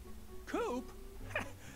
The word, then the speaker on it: Coop: can call me coop coop that rhymes with scoop i think we're gonna